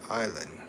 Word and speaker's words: island: No, the E is island. No, silent. Oh. Oh. The E is island. Island. Island. That's how you say it. Island. Uh, the S the S is silent.